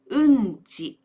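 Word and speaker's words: 運賃: ん is treated as one molar. There was an incident when I was listening to a speech. The speaker wanted to say, バスの運賃が高い。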